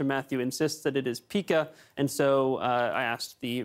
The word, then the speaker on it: pika: The American pika is a mammal that lives in rock fields and mountainous grassland above the treeline here in BC.